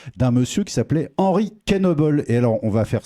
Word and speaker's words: Knoebels: au 17e siècle donc certains noms se prononcent avec le K et pas comme une